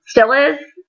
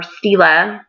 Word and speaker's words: Stila: I either use that or Stilla's. Or Stila. So I've heard it pronounced both ways.